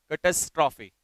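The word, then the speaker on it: catastrophe: इसका प्रोनाउंसिएशन होता है कैटास्ट्रॉफी। क्या होगा? कैटास्ट्रॉफी।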